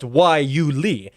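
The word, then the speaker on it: guayule: Now, it's pronounced Waiuli, but it's spelled with a G and Y and U and all sorts of strange things that don't make any sense.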